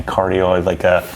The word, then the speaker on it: cardioid: Yeah, cardioid, it's a non-directional mic, so it can pick up reverberations from all over the room.